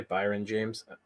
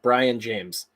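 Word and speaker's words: Brion James: Or Brian James, sorry, did I say Byron James? I'm I'm really fucked up. The dyslexia is strong now. Brian James, but it's spelled Brion.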